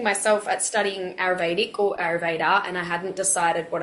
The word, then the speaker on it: Ayurveda: It's Ayurveda. Yeah. Okay. I always think it has an N in it for some reason. Yes. But I've been looking myself at studying Ayurvedic or Ayurveda, and I hadn't decided